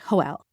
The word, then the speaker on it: Hoel: He pronounces what seems like the name Joel with an H, so it sounds like Hoel.